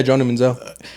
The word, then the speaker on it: Johnny Manziel: I learned a lot watching that Johnny Manziel. Am I saying it right? Yeah, Johnny Manziel.